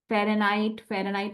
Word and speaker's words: Fahrenheit: Fahrenheit is also correct pronunciation. In order to learn the spelling, you need to have the H sound in between these spelling. Fahrenheit. Okay.